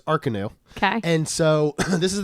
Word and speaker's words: Arcanus: It is not Arcanus, by the way. Oh. It is Arcanus.